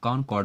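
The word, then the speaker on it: concord: कॉन्कॉर्ड हो जाएगा, कॉन्कॉर्ड बोलते हैं, आर यहाँ साइलेंट है, तो कॉन्कॉर्ड हो जाएगा, किनशिप हो जाएगा, एडजस्टमेंट हो जाएगा।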